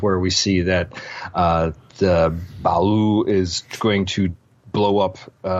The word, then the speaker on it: Ba'ul: Tell him, Dave. Ba'ul. Ba'ul. Like Gua'ul, but Ba'ul.